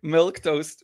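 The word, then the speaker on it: milquetoast: uh milk toast that's how you say it milk toast way of defining it which is funny uh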